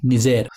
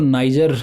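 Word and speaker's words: Niger: Is going to बी निजेर। तो ये रही, मैं इसको नाइजर बोला करता था लेकिन मुझे पता चला कि इसका प्रोनाउंसिएशन होता है निजेर, और नाइजीरिया से ऊपर आपको देखने को मिल जाएगी ये।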